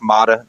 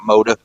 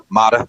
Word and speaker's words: Mada: One, just to guys let you know, shout out, he has been on the show, but it's Dick Mada, not Moda. Mada is how you say his name.